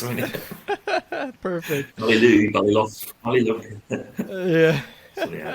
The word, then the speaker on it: Ballylough: pronounce mine. Perfect. Ballylough.